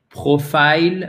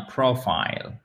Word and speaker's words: profile: Ce n'est donc pas un profile, mais un profile. OK? Profile. Profile. Et vous avez l'accent tonique sur la première syllabe.